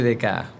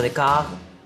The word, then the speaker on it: Descartes: es ahí donde aparece dec quién te lo deletreo d e c a r t e s se pronuncia dek de francés abundancia de letras y es el primer